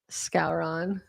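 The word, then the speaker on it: Skowron: It's SKO WRON. Yep. So if it's phonetic, it's Scouron. I'm not sure.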